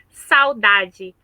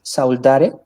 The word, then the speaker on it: saudade: ¿Es saudare? Saudade, saudade.